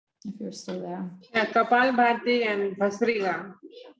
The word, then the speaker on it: Kapalabhati: Mitika, what's the pronunciation? I never know if you're still there. Yeah, Kapalabhati and Bhastrika.